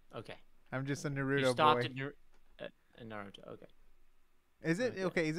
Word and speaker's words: Naruto: it naruto or naruto if you're doing the japanese pronunciation i'm probably gonna butcher it but it's it's it's like it's not nerudo because you're doing the emphasis okay emphasis is the middle of the word not the end um by the way